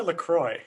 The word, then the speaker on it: La Croix: love lacroix it's amazing is it la choir la croix well okay so it's i don't know oh well it's pronounced la croix but people who are